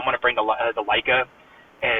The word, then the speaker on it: Leica: of mine a old I think I keep pronouncing it wrong. A Leia Leica Q Leica.